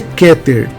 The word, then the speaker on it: Keter: lá número um aqui no desenho A palavra keter e você fala que ter na verdade nós falamos queter tá bom mas esse aí é um erro pequeno é um erro simples mas é keter e não quer que ter está errado é